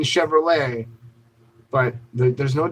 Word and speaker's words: Chevrolet: in Ford I mean I know the T is silent in Chevrolet but there's no T